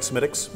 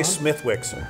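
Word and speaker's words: Smithwick's: a huge history behind smittix am I saying it right semitics you are yeah don't say smithwicks no it's only the uncool kids say smithwicks right no it's it's really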